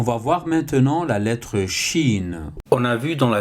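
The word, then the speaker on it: شين: face à la lettre Chine au niveau de sa prononciation vous ne trouverez pratiquement aucune difficulté c'est le CH en français donc ça fait chat donc là en arabe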